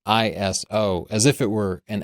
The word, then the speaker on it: ISO: was an acronym and you might have just been in the habit of saying those three letters but I talked to ISO and I've done a lot of research into this iso is a three letter word that for some